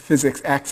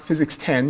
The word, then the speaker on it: Physics X: to the next one so physics X is pronounced physics X is not physics 10 you didn't miss 9 lectures and suddenly mucking